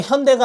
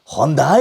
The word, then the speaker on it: 현대: 자기의 광고를 건대 어 항상 그 나레이션을 보면은 현대 라고 얘기하지 않고 헌다 에이 뭐 이렇게 발음을 해요 실제로 발음 하려고 하면 은 hyo 의 bae 라고 해야지만 정확한 현대 라는 발음이 되는데 처음에 이렇게 만들어놓고 이게